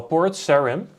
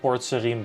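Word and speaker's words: Port Sarim: going to um well port sharim or Serene I don't know I've always got it Port Serene but um I'm Dutch you know so it's a just a way for us to pronounce it let's grab those coins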